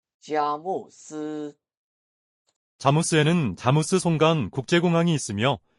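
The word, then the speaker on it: 佳木斯: 중국어 발음은 이렇습니다. 자모스.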